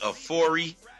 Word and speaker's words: Afori: before I what's going on bro yeah it's pronounced a4e oh I'm sorry yeah let's cut to the